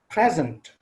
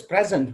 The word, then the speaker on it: present: For example, the word present is present. It is pronounced as present when it is used as a noun or as an adjective. And the same spelling, the same word, the same graphic form of the word is pronounced as present when it's used as a verb.